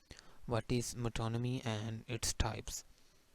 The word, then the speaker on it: metonymy: तो इससे मेटोनमी पढ़ते हैं, मेटोनिमी या इस तरह की प्रोनाउंसिएशन नहीं है। या गूगल पे अगर देखेंगे तो मिटोनमी भी मिल जाएगा। अदरवाइज़ जो ऑक्सफोर्ड में है ब्रिटिश और अमेरिकन इंग्लिश, वो उसके लिहाज से मिटोनमी या मिटोनमी।